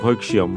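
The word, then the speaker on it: ভৈক্ষ্যম্: এরপর পরবর্তী যে শব্দটি আছে দেখো ভৈক্ষম, এই শব্দটিকে আমরা উচ্চারণ করব কি ভৈক্সিয়ম।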